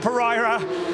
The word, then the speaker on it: Pereira: The Hairpin once again Dylan Pereira yes that is how you pronounce it uh the request of his family Dylan Pereira holding off larenheimerich the